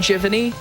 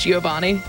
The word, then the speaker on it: Giovanni: a friend of mine used to say um jiffany because they didn't know how to pronounce Giovanni as a kid what